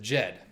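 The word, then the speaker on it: djed: cool yep charles collect correctly pronounced it jed which means stable an egyptian an ancient egyptian is there a good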